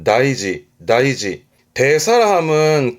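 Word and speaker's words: 大事: 그런데 우리가 가장 많이 접하게 되는 건 다이지.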